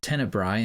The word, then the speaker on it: Tenebrae: The standard quote unquote English language title used today, tenibra with the ae on the end is actually a Latin word pronounced tennibbri in Latin meaning darkness.